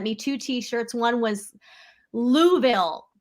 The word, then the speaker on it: Louisville: two t-shirts one was louisville it's pronounced like marbles in your mouth they're like blueville yeah that's not a little they go louisville woolville and then i and then